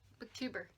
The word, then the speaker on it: BookTuber: BookTuber. Oh, BookTuber Mom. Mm-hmm. I know what we are. Because it rhymes with goober.